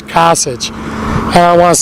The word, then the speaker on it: Kasich: a politician hey I believe his last names case it's Kasich hey I want to say it wrong I